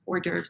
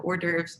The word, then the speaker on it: hors d'oeuvres: making up trays of four dervs which is spelled h o r s d apostrophe o e u v r e s so hors d'oeuvres are those fancy little